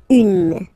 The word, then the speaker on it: une: Then the feminine article is here, and it's easier because if you have this U, N, E, then you pronounce it une, okay?